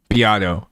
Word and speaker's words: Beato: Beato. Okay, cool. Can I give an opinion on Rick Beato? Can I give an opinion on Rick Beato?